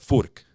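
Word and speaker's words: Fuch: or fch guitars f u c h but Fork is the is how you would pronounce it it's a Czech Republic um based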